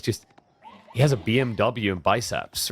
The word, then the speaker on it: BMW: BMW or BMW? Because in German with the alphabet, it's not pronounced W, it's V.